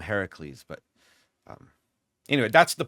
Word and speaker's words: Heracles: Like the majority of the population is going to still refer to him as Hercules, even though that's not actually how you pronounce the name, right? But because of some bad transliteration way back and Disney movies, just it's Hercules, right? Hereafter. So I never call him Hercules. I call him Heracles.